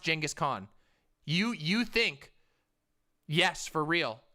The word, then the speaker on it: Genghis Khan: It's pronounced Genghis Khan.